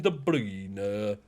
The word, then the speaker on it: De Bruyne: almost 10 assists a season and that's kevin de bruyne that's how you pronounce it um but bruno which is you